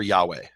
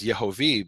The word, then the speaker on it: Yehovah: And those full vowels are Yehovah. Mm-hmm. Those full vowels are never Yahweh. Those full vowels are never Yahuwah. Mm-hmm. He pointed out that there's places where it has the vowels Yehovah because the scribe was indicating to pronounce the